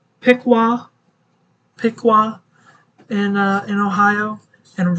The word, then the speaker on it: Piqua: uh fixing to move into uh let me pronounce this right Piqua Piqua in uh in Ohio and rosville so you